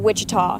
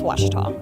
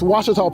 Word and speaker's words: Ouachita: for Washita Baptist University back in Texas everybody pronounces it Wichita but really it's Ouachita Washington how would you pronounce it it's Ouachita Baptist University get it right it's Ouachita people it's Ouachita Washita hi my name